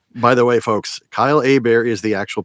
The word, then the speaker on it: Hebert: the way folks Kyle a bear is the actual pronunciation not Herbert h-e-b ERT is pronounced a bear I'm from Louisiana so it's a French thing what I tend to